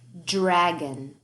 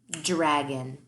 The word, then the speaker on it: dragon: Dragon. D-r-a-g-a-n. Dragon. Yeah, that dr, that's our tricky cluster and blend. That dr is really d-er.